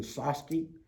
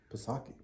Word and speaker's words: Psaki: press secretary, that Jan Psaki. Psaki. No, I think the P is silent.